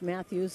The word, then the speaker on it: Matas: wins one open stance pronounced Matthews it's spelled Matas inside backs him way